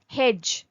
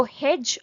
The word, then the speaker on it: hedge: hedge, H-E-D-G-E. ডি, এই যে এখানে ডিটা আছে এটা সাইলেন্ট হয়, মানে এটা বানানে তো